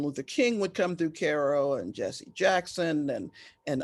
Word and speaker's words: Cairo: in southern illinois called cairo illinois spelled by cairo egypt pronounced cairo and it's right on the mason-dixon line so